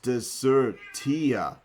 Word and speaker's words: Desertia: Short like desk. Sir, stressable syllable like surge. Or sarge. Sarge. Sarge. Sarge. T, like the letter T. Soft sounding like sofa. So when we say it out loud, it sounds like a proper Latinist taxonomic name.